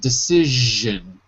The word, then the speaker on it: decision: H decision decision decision it's a it's a j sound decision decision not Z like zebra but like measure decision decision that's it